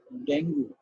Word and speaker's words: dengue: is how it is it is pronounced dengue or dengue which one is the correct the is correct so the correct pronoun session is the dengue this is this is